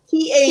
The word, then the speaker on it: Taz: Is that how you say it, Taz, or is it T-A-Z? Yeah, it's Taz. It's Taz.